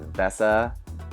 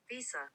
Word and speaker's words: VESA: to go with the VESA. Is it VESA? No way. Is it Visa? Visa.